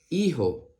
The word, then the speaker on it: hijo: la siguiente palabra dice la H con la i suena I porque recuerda que la H es muda la J con la o suena Jo I Jo hijo la siguiente palabra dice